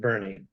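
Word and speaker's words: Boerne: know how to talk they spell it burn and they pronounce it Bernie so it's down here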